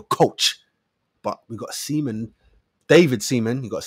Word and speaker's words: David Seaman: David Seaman. You got to say it like that. David Seaman.